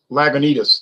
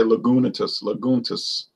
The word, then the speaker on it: Lagunitas: Lagunitas. That's the one I did the rant and rave about. Lagunitas. And I notice a lot of people can't pronounce that word. They say Lagunitas.